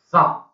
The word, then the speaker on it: thumb: 然后呢，这边还有一个叫做 Thumb position 这个 B 当不发音的哈，Thumb 这什么东西啊？